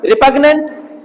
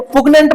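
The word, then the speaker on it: repugnant: रिपग्नेंट, रिपग्नेंट बोलो ना, तो पुग्नेंट मत बोलना, रिपग्नेंट।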